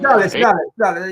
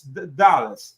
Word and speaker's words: Dulles: Dallas, you're right. The pronunciation is Dallas.